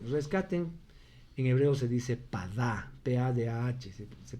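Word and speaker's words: פדה: Rescaten, en hebreo se dice padá, P-A-D-A-H, se pronunciaría.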